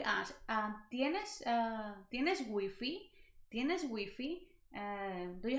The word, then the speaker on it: Wi-Fi: wi-fi right we have wi-fi but here in spain this word is pronounced as wiffy wiffy not wi-fi wiffy so they literally pronounce the letter or the word how it is written so wiffy now wi-fi